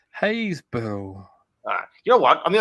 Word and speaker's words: Happisburgh: Happisburgh equals Haysborough.